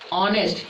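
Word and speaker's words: honest: तो ऑनेस्ट में कौन सा लेटर साइलेंट है, एच साइलेंट है। और एच साइलेंट कब रहता है, जब वो ओ से पहले आता है, ठीक है। तो ओ से पहले आया तो इसको एच उच्चारण नहीं होगा, तो इसको पढ़ेंगे ऑनेस्ट।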